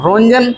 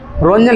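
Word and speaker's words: Roentgen: कोई रोंजन याद करे हैं। यही स्पेलिंग है आर ओ इ एन टी जी इ एन यह स्पेलिंग है याद करो रोटजन रोंजन रोंजन लिख दिया मैंने रोंजन ने आविष्कार किया था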